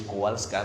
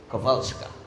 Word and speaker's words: Kowalska: Kowalska because it is Polish. So we pronounce it in English Kowalska, but in Poland it is Kowalska.